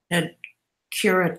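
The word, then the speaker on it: تذكرة: You have to pronounce the tamarbuta.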